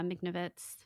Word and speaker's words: Michnovitz: Yeah, Michnovitz.